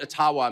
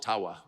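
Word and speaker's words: Ottawa: thank you and I I called it atawa many many times and I get these outrage there you don't even know enough about our country to pronounce the name correctly and of course it was intentional until I received a very sincere email from an ajua First Nations leader who said actually it's it's called aawa and uh they've been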